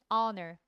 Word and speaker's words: honor: Hor 어 사운드죠. H지만 발음이어야 어 대신에 언써야 됩니다. honor 그죠?